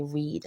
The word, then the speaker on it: read: all we just say read so E and A together just says e and this a is definitely silent go ahead and make